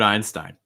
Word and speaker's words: Einstein: albert einstein albert einstein key thing with um einstein is that um you want to make sure that uh albert einstein or like just like people in general what you want to make sure is that you're stressing the last name okay einstein einstein albert